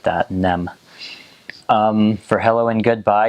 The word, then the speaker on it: nem: it's again and for no you just say nem so just like that nem um for hello and goodbye you actually use